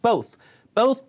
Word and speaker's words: both: I hope they both, 보스 아니고 both become bigger singers in the future.